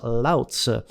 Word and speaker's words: Lao Tzu: And correct if you said Lao Tzu, and I've been told you pronounce that as Lao Tzu.